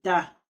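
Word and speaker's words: Ptah: Le deuxième fils créateur, c'est Ta. Le Ta s'écrit P-T-A-H.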